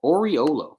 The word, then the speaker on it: Oriolo: uh don or or Oreo oriolo it's oral oriolo that's what it is it's Don Oriole oh